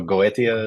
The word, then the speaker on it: Goetia: Uh so we say it Goatia I think Goatisha the proper way it's it's uh it's Greek originally so Goethia is probably more accurate but okay